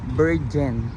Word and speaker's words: Bergen: Bergen. Naguguluhan ako sa pagbigkas dyan eh. Kasi lagi ko nang bibigkas siya ng letter J. Dapat wala letter G.